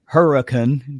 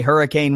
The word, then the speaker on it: Hurricane: Virginia without saying that yes it's spelled like the weather formation but it's per Matt pronounced Huracan just like that's just one of those West Virginia things if you come and say hurricane West Virginia they're gonna